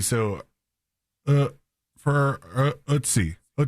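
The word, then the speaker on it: Ötzi: So, uh, for ootsie ootsie. So, the ootsie, it says rhymes with bootsy or footsie, which is two different words to me.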